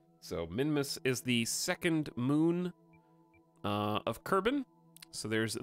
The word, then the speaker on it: Mun: Minimus is the second moon uh of carbon so there's the moon or the mun if you don't know how to pronounce it because it's Moon and then way out